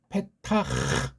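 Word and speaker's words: פתח: 타밈 야크리베누 엘 페타흐 이 문짝인데 페타흐 요거 살려줘야 돼요.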